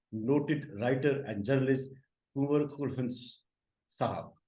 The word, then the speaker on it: Khuldune: Writer and journalist कुंवर खुलहन साहब। मैंने आपका नाम लगता है सही प्रोनाउंस किया, इफ आई am sorry to से अगर नहीं प्रोनाउंस किया होगा। खुलहुन साहब, खुलहुन साहब बिल्कुल सही।